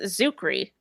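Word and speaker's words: Czuchry: blame her oh okay this is saying it's zukri it's spelled c z u c h r y I feel like Helene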